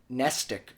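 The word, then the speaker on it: mnestic: a dangerous regimen of nestic drugs, nestic spelt with an M at the beginning, of course, nestic drugs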